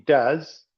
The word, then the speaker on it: does: Acá tienen la pronunciación do y does. Hm. Esto más bien es una z más que una s.